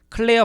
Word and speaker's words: Clair: 발음은 클레어인데요. 스펠링을 틀렸다는 얘기입니다. 2001년 초에는 네이처의 이 책들 중에 한 권을 소개하던 서평에서 패터슨이 여성이라고 소개하는 놀라운 실수를 저지르기도 했다. 어쨌든 1953년까지의 클레어 패터슨의 업적 덕분에 모든